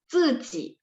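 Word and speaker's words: 自己: Cukup hafal 1, ziji. Berarti z bunyinya. ZI itu bunyi z gitu.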